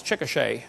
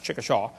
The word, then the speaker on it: Chickasha: 2005 textbook, and I pronounced it wrong as Chickasha, not Chickashaw, Chickasha, Oklahoma.